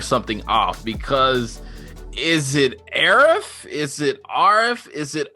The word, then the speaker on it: Arif: I pronounce it Arif. Okay. Arif, yeah. So, but there are one or two other Arifs or other ones in the industry who might pronounce it otherwise. But I'm born and raised in Montreal, and that's the easiest. It's not even the traditional way of saying it. Traditional way is with a hard A.